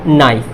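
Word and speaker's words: knife: इसी तरीके से आप यहाँ देखेंगे, इन से पहले क्या है, के है, तो के क्या हो जाएगा, साइलेंट हो जाएगा। तो क्या हो जाएगा, नाइफ।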